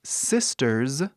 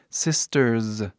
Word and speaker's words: sisters: O inglês sisters, e vê que o som do Z tem um S no final, mas pronunciamos o som de Z, sisters.